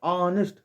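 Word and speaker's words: honest: ऑनेस्ट, ऑनेस्ट पढ़े हो ना, तो यहाँ का लगेगा एन लगेगा।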